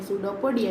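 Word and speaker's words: pseudopodia: इसमें P silent है इसलिए इसका नेम है सूडोपोडिया।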